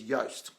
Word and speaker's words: Yoast: But one of the good ones around SEO is Yoast. So it's spelled like toast, except it starts with Y at the beginning, Y for yellow.